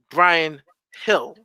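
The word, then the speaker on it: Bryan Gil: I like Brian Hill, as they pronounce it correctly. I like Brian Hill in the sense of he's not afraid to attack the defenders, very creative.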